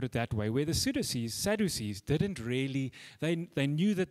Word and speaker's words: Sadducees: Sadducees.